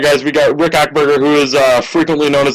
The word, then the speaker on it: Achberger: It's Achberger. Achberger, okay. Pretty much, yeah, you clear your throat and say burger. All right, guys, we got Rick Achberger, who is frequently known